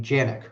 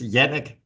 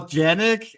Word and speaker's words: Jannick: yeah in Danish it's Janik but I react to anything that's what I thought I in America it's more janic and then in France it's Yanik and so it depends